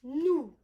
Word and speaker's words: nous: Now, not new, okay? It's not news. It's nous, and it's very low. Ooh, nous. And that sound, we don't often use it like that in English. Ooh. It's not difficult for you to say, but you do need to make some sort of effort because it's not just new.